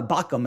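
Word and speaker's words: Baucham: bachmann bachmann um uh bakum i think is how you say his name um is um he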